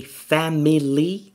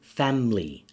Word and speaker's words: family: We can say family which is three syllables and this is British. And we can say family two syllables and this is American.